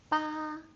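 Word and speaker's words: 八: Ba. Ba, you will notice that it's very high. Ba, and it doesn't drop, so it sounds sounds like I'm singing, but ba Jiu Jiu, it's low again.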